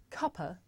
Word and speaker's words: cuppa: Now this is such a natural and common way to pronounce cup of that in British English the word cuppa actually means a cup of tea.